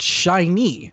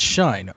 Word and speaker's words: SHINee: coming to this album it's pronounced shiny and not shine okay good to know